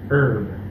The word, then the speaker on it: herb: И у нас тут опять отличаются американцы, которые произносят звук R в середине слова и не произносят звук H в начале слова. Herb.